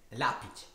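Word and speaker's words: Hlapić: E poi dice con la C appena accennare, quindi sarebbe l'apic. La P. Vabbè. La P. Vabbè, io dico Hellpig, va bene. Le avventure dell'apprendista Hellpig.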